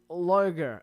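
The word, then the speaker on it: Lloegr: The modern word form of the word is loger pronounced and it has become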